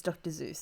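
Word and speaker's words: Dr. Seuss: you know that it's actually called it's actually pronounced dr seuss yes i get corrected all the time by my partner but it's dr zeus so no i know i don't yeah i'm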